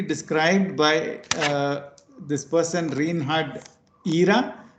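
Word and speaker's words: Jira: This is beautifully described by this person, Reinhard Ihra. It's J-I-R-A, but it's pronounced Ihra.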